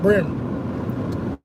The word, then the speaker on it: bream: call a shell cracker, brim. Bream is the way it's spelled, but we say brim in the South, okay?